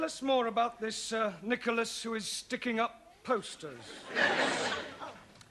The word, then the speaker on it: Nicholas: upon a times there was a man called nickel ass it's not quite right no no once upon a time there was a woman called nickel ass it's pronounced Nicholas all right once upon a times there was